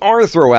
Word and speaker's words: Rthro: And then there's also the Rthro avatars, which Alright, thanks.